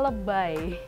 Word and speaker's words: lebay: Dari kata lebih dengan pengucapannya, dengan pelafalan bahasa Inggris. Jadi i-nya dibacanya I, jadi lebay.